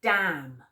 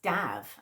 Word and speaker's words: Dav: It's damn. Oh, no, it's not. It's Dav, actually. Not Dave, Dav. D-A-V.